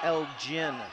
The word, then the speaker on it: Elgin: I believe it's pronounced Elgin. Oh, so Elgin will have to work hard. Yes, Elgin. It's almost like a Spanish gin.